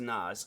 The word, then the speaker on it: Nas: was like Nas but how it's pronounced is Nas So for anybody wondering it is Nas but yeah it's like I guess first time seeing it you might have thought it was NZ but I ain't going